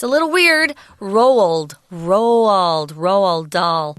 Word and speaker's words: Dahl: Roald Dahl. Dahl is kind of different too, actually. Just say it like D-O-L, like a baby doll.